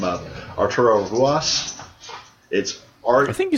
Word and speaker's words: Ruas: Pete Dunne and Arturo, I'm going to screw his name up, Arturo Ruas. I think you said it right. It's R-U-A-S, but he's pronounced it with an H.